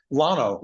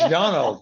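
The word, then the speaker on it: Llano: Hey, look at everybody else calls the road over here Lano. It's Yano, for God's sake.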